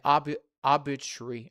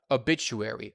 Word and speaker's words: obituary: There are greeting cards and telegrams, newspaper clippings about engagements and weddings, and obbitary. How do I pronounce this one?